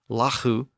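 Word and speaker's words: lagu: r a w and L A guu pronounced lahu became law L aw So eventually these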